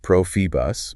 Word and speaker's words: Profibus: This is where we get into the world of Profibus, pronounced Profibus, Profinet, pronounced Profinet, and industrial Ethernet.